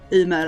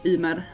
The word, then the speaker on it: Ymer: I will not pronounce Ymer as Ymer like all the English people say. In Swedish it's Ymer.